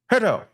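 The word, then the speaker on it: Herto: Let's say Herdo. Herdo. That's how you say it right.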